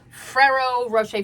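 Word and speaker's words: Ferrero Rocher: Oh, also it is Fero Rocher. That's how to pronounce that. It is um Fero Rocher.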